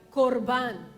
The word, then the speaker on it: korban: El significado de la palabra ofrenda en hebreo, la palabra se pronuncia korban, que tiene su raíz en el verbo karav, que significa acercarse o acercamiento.